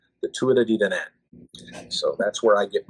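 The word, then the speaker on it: Tuatha Dé Danann: I asked a man from Ireland, who I had the opportunity to talk with for a few hours one day. I said, I spelled it out, and I go, "How do I pronounce this properly?" And he kind of smiled and he goes, "The Tuida di Danann."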